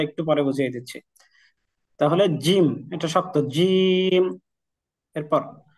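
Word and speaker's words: جيم: দেই একটা দেই তাহলে এটার নাম হয়ে যাচ্ছে জিম জিম এটা একটু শক্ত আওয়াজ হবে যেমন আমরা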